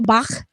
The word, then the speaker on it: Bach: Well, I mean, I was just being extra German, and not like he was, I was just trying to be guttural with it. Bach.